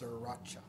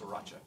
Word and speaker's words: Sriracha: No, but Brian texts, it's Sriracha. I don't think that's true, Brian. That's how you pronounce Sriracha.